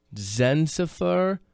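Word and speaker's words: Dzsenifer: Zensifer Morasan. That's a good one. Morasen. Number the D is silent. Don't let it Don't let it uh Yeah. Unless it's Densifer. Jensifer Zenzifa.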